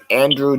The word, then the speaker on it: Andre: Andrew Dillard. And not Andrew, what the heck? Andre. Oh, it's Andre. Dillard.